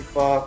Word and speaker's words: pho: As a Vietnamese American, I can vouch that Irene is pronouncing pho correctly.